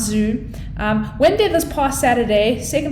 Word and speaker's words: Zioux: restaurants to hit the food scene being zoo pronounced zoo although the spelling is z-i-o-u-x i know it literally took me to watch the promo before i realized that the pronunciation was zoo i was going around pronouncing it zai nope